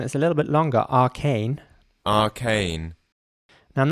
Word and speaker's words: arcane: saying this word again first of all arcane and he's the British English version arcane and again the British version is a little bit longer Arcane arcane now I'm not